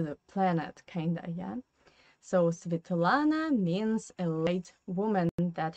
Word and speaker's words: Svetlana: Pay attention here again to the Russian phonetic system, because Svetlana, the first syllable is a non-stressed position. That's why this E we pronounce as I.